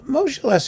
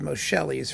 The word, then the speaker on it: Moscheles: Now, Moscheles, who I always pronounced Moscheles for some reason, I don't really care.